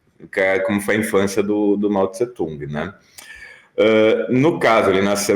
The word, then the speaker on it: Mao Tse-tung: sabe, vamos falar de Mao Tse Tung ou Mao Zedong, as duas pronúncias estão corretas, use aquela que você mais gostar ou acha mais fácil de falar.